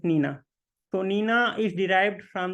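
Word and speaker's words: GNINA: see it is written G Nina but the pronunciation of the tool is Nina so we do not pronounce it g Nina it is just Nina so Nina is derived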